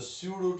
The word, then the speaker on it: pseudo: Next, he saw the pseudo teacher. The word P is used, but that should not be pronounced.